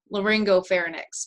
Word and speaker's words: laryngopharynx: i tried to put that in there l-a-l-a-r-y-n-g-o laryngopharynx because it sits right on top of the